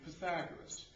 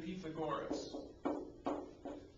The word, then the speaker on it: Pythagoras: as we like to say in this country Pythagoras but my Greek Grandfather said the correct way to pronounce his name would have been Pythagoras and I guess I would take the word